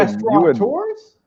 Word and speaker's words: restaurateur: You mean you would restaurateurs?